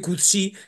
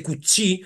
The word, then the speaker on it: Coetzee: Pero cómo coe Cut vamos a llamarle cutsi que de todo lo que yo he rastreado por ahí parece que es el el modo de pronunciar hay quien dice kutsi En definitiva jm co